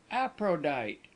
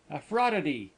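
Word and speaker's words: Aphrodite: Appro Aprodite. What a funny name. You haven't pronounced it quite correctly, he said. Out there they sound the ph like a f and give all the syllables. A fraud.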